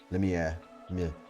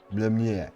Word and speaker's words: Lemieux: Lemieux. Lemieux.